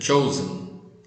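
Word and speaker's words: Chosen: chamada de souza am o shouse é se escreve c h o s e n fala a respeito da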